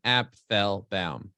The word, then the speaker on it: Apfelbaum: My name is pronounced Apfelbaum.